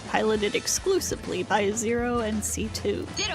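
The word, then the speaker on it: C.C.: for for her name is pronounced C2 not CC right C2 is an immortal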